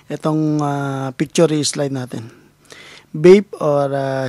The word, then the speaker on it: BAPE: ah picture slide natin vape or sinasabi sa Google ang pronunciation niyan is baby pero as sa Filipino Ah ewan ko kung ako lang nagbabasa ng Bap or vape and tambay Trucker hot